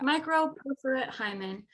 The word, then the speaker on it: microperforate hymen: the same time as finding out about the microperforate hymen? Is that how you say it? That is how you say it. Yeah. Microperforate hymen.